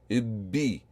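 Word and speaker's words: بِّ: Ibbi, ibbi. The letter is emphasized as if it is doubled or tripled with a compounded sound effect. So ibbi, ibbi. So let's practice the writing of ibbi in the middle of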